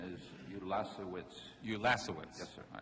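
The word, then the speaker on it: Ulasewicz: can I interrupt a second the cor correct pronunciation is ulas witz ulas witz yes sir all right you did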